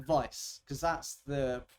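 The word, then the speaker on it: Weiss: people pronounce it like Vice because that's the it's a German word that's the proper way to pronounce it but I I always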